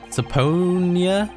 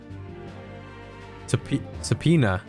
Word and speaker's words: Subpoena: Saponia? Sapona? Was the... you know what? Let's find out. Let's find out. Right now. Give me the pronunciation. Subpoena.